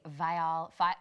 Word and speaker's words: Viall: Well, I gotta ask you about a new project that you are doing, the Viall. Can we say it Vial Files so that it rhymes?